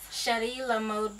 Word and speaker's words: Cheri La Mode: chrishana and she has the mobile Boutique Now pronounce the name for us sh La mod Boutique and where did that come from so